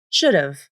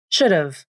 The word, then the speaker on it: should've: The initial H consonant in have is dropped. The A vowel in have is reduced to the schwa, This sounds like should've, should've, I should have gone with you. And one more reduction can happen. The final V in of can also be dropped. This sounds like shoulda, shoulda, I shoulda gone with you.